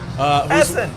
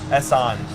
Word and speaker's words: Esson: Essen! Oh, no. Not Essen. Esson.